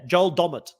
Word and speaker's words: Joel Dommett: in for Survivor UK I forgot uh yeah Joel dommett that's how it's pronounced I just bended somebody yeah so so